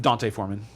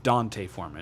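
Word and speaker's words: D'Onta Foreman: the ball this week besides Justin Fields um Dante foreman and oh yeah apparently we we've all been pronouncing his name wrong it's it's Dante foran it's not Deonte yeah we should have learned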